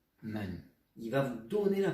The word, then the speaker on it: 们: dire, ah oui, mais il ressemble au caractère de la porte, qui se dit men. Donc ce mot se prononce aussi men.